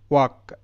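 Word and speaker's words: walk: দেখো এটা ওয়াল্ক নয়, ওয়াল্ক নয়, এল এখানে সাইলেন্ট, এটা ওয়াক, ওয়াক।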